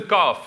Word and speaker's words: qaf: This is the calf. It's pronounced k.